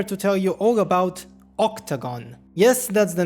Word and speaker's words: OCTGN: of making this video it's spelled ocgn pronounced octagon and in this video